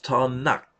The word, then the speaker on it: Tanak: Om du tar den första bokstaven ifrån vart och ett av de här orden, då får du T, N och K på hebreiska. Och det uttalas Tanak.